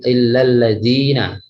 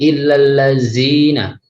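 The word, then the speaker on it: الَّذِينَ: Jadi masih membacanya masih illalladzina, bukan illallazina. Zazizu, ya.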